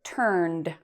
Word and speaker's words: turned: So we pronounce it turned with a d sound at the end.